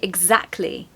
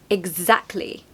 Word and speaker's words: exactly: you that really this the t is silent so we say exactly exactly so the second syllable